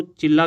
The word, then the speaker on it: Chilla: और मोतीचूर वन्यजीव विहार, राजाजी वन्यजीव विहार और चिल्ला वन्यजीव विहार, इसको चिल्ला करना क्योंकि अगर आप इसकी वेबसाइट देखोगे तो इसकी स्पेलिंग होगी CHILLA।